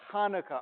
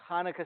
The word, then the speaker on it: Hanukkah: some people say no a huh does not sound like H it's more like a CH kind of sound like a stretch but it gets there I've even seen Hanukkah spelled with an X